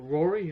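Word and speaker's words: Rori: that exploring the booze moon which is called rory r-a-r-i for some reason it's spelled like that that makes it sound better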